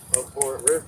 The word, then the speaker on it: abhorreth: Yeah, it's like boom, boom, three. Abhor it, rip. Yeah, 3 syllables.